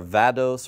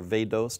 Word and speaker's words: vadose: And on the slides, you'll see the two words we have are vados or vados, depending on how you want to pronounce it, which is shallow groundwater that is above the water table.